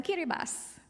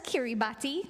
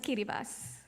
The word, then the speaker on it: Kiribati: I met recently from kiribas you might see it spelled as Kiribati but the proper pronunciation is kiribas and their islands are